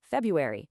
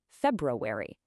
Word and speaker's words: February: In American English, especially, we almost always drop that first R. So, it sounds like February instead of February.